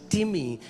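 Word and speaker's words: τιμή: इट्स इट्स इट्स the spelling is like time T आई एम ई बट it's pronounce S टिमी एंड it means heavy.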